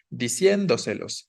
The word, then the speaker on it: diciéndoselos: Si yo pongo el acento o la tilde sobre la I, estaría diciendo o tendría que pronunciar de la siguiente forma: diciéndoselos, diciéndoselos, ¿no? Lo cual no suena natural, no suena a la forma en la que lo diríamos, diciéndoselos. Lo que decimos es diciéndoselos, ¿no?